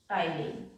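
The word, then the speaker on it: ptyalin: है सला अइले का टाइन टी साइलेंट इट्स टाइलन अब इसका काम क्या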